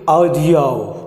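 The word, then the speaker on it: audio: जो कि गलत होता है, आप इसे औ प्रोनाउंस कीजिए रेडियो रेडियो, या फिर वीडियो वीडियो, या फिर ऑडियो, ठीक है।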